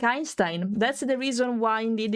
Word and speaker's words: Einstein: So like Einstein, that's the reason why indeed it's read in that way. It's not Einstein, it's Einstein, because EI is pronounced I in Deutsch.